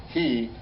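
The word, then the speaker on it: היא: V'hine he Leah. It's pronounced he, because she was Leah.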